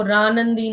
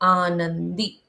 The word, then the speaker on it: आनंदी: इसको रनंदी नहीं पढ़ेंगे। हम पढ़ेंगे आनंदी।